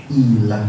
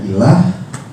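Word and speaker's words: إله: garis bawahi ya Pak ini yang dibaca ilah Pak yang saya bulatin ini dibacanya ilah definisinya apa Pak kata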